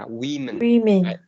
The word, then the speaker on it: women: dụ như kiểu là một người phụ nữ thì sẽ là woman, còn nhiều người phụ nữ thì sẽ là women. Women, ok. Thì từ này phát âm là women, có nghĩa là Vietnamese Women Day.